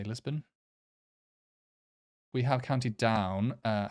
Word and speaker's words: Lisburn: um Belfast and Lisbon some people say lisburn some say Lisbon I'm going to say Lisbon we have counted down